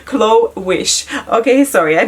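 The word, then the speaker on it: Glowish: going to be called glovish chloe sorry glow wish okay sorry i butchered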